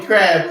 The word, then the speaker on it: Crabbe: else you know crabbe i don't say the name wrong because i'm like yeah you said my name it's crazy but the e is silent correct i just always